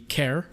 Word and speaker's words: char: amount of memory uh there is the care or the car you might hear it pronounced I tend to swap